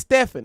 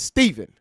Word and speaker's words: Stephen: I No, it's Stefan. How the you going to tell me what my name is? No, bro. Bro, it's it's Stephen.